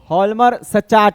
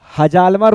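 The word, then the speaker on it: Hjalmar Schacht: हॉलमर सच्चाट इसको बोलते हैं। जे साइलेंट है इन लोगों का जे साइलेंट है। हजालमर पढ़ा जाएगा लेकिन हॉलमर सच्चाट इसको बोला जाता है। ये जे साइलेंट है।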